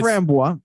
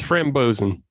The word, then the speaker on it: Frambozen: Well, it No, is a it's- framboise, but it's Frambozen.